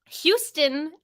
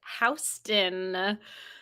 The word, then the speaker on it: Houston: round two question one what fourth most populous city in the U.S has a vowel combination in the first syllable that's pronounced differently from the Lower Manhattan street that has the same spelling foreign the fourth most